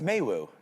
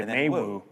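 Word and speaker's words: Meiwu: Like I'm not pronouncing It's Maywu. Maywu? Yeah, M E I is May, I think. May? Okay, Maywu.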